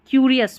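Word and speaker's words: curious: अब यहां पर यू पढ़ना है क्यूरियस में।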